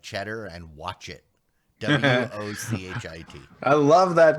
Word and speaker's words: Wochit: And even the ridiculously named ones like Cheddar and Watch It, WOCHIT. I love that name. It's so weirdly spelled, but pronounced correctly. Watch it.